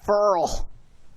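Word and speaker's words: Ferrell: Cleland Farrell, did I say his name right? Farrell. Apparently it's Farrell.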